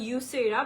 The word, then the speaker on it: Yusera: product যেটার নাম হচ্ছে স্পেইনে একচুয়ালি এটার প্রোনাউন্সিয়েশনটা হয় ইউসেরা বাট বাংলাদেশের মানে যদি আমি বাংলাদেশের ইয়েতে বলি সেক্ষেত্রে নামটা আসবে জুসেরা সো জুসেরার সকল প্রোডাক্টই